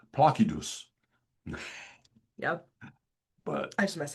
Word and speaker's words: Placidus: See, everybody pronounces it Placidus. Mhm. My hobby is pronouncing Latin words in reconstructed classical Latin pronunciation. So you will hear me call it Placidus.